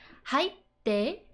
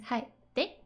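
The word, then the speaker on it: 入って: So, hairu becomes haitte. And then like how you pronounce this tsu, which is like stop, haitte, versus haitte.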